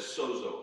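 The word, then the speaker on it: σῴζω: The word they use for salvation, we would pronounce it as sozo, S-O-Z-O.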